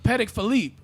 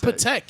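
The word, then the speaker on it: Patek Philippe: it's like it's like that's not actually how you say it yeah it's not patek you know they got to say paddock so it could rhyme philippe i i guess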